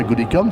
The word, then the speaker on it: Goodicom: Est-ce que je prononce bien Goodicom, c'est bon?